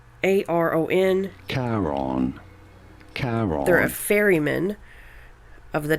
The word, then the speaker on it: Charon: there's a, I don't know, how do you pronounce that? It's Charon. Charon.